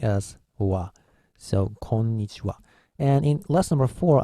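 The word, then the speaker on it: こんにちは: say hello we go it's konichiwa in Roman era but home knee she and the be careful are the last one is ha so it's age a but it's a Japanese special rule and special in this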